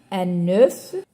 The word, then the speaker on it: œuf: Alors, ici, on prononce le F. Un bœuf, un œuf. Mais le pluriel, on dit des bœufs, des œufs.